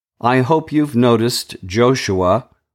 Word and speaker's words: Joshua: I hope you've noticed Joshua, or his name could be pronounced Jeshua, the high priest.